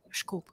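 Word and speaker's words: desculpe: Disculpy. That is literally the first word I said. I'm apologizing all the time. The funny thing is that word is written like disculpy, and actually it's pronounced like schkulp.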